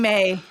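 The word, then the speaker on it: Mai: Tye okay Tye and may is it may or may it is May it's spelled like my to us but is pronounced May that's why I always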